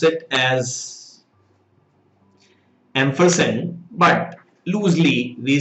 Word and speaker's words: ampersand: why two signs were there uh exactly you pronounce it as ampersand but loosely we say end sign so this